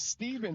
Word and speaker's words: Steven: My name is Steven, pronounced with an even.